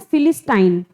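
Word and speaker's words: Philistine: ऐसा एक्चुअल में नहीं है, हमने सिर्फ लर्न करने के लिए इसका प्रोनाउंसिएशन है फिलिस्टाइन, ठीक है।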